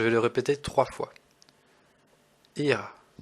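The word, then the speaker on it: ihr: écoutez bien je vais le répéter trois fois IR IR et enfin nous allons voir la troisème personne du pluriel alors ça se prononce Z comme la trème personne du singulier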